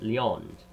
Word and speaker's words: Lyons: This city also bore the name Lyons, whose pronunciation is like the English word Leo.